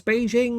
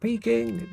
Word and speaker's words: Beijing: to pronounce it right it's Beijing not peing no it's key oh